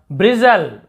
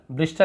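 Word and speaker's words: bristle: यहाँ पर देखिए ब्रिजल, ब्रिजल, ब्रिस्टल नहीं पढ़ेंगे, ब्रिजल, बाल खड़े होने को ब्रिजल कहते हैं, बाल खड़े हो जाना।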